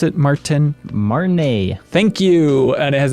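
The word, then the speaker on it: Martinaise: map of the district of, how do you pronounce it, Martin? Marnay.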